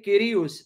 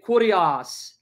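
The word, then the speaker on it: κύριος: whether Catholic or Protestant, they don't pronounce it Es. They pronounce it Heis. They don't say Kyrios. They say Kurios.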